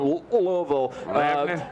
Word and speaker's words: Louisville: this particular city is you have to say it like you're you're mustering a lugie so I just call Louisville Louisville um so yeah from louville Megan loud for Ken